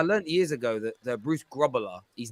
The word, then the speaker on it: Grobbelaar: It's a bit like I learned years ago that Bruce Grobbelaar, his name isn't pronounced Grobbelaar. It's pronounced Grobbelaar.